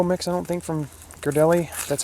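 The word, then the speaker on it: Ghirardelli: the hot cocoa mix i don't think from girdelli that's how it's pronounced oh just made a mess it's all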